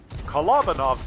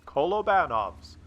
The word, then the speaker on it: Kolobanov: versus five and I used to call it Columbo knobs metal but a really nice subscriber from Russia pointed out that is actually pronounced kolobanov's so I have changed the way I pronounce